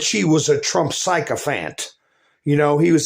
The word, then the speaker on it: Fani: said that judge pan if she wants me to pronounce it fan then she needs to change the spelling in her name I don't live in Vietnam okay I don't pronounce my P's as FS unless it's got a h behind it but anyway judge pan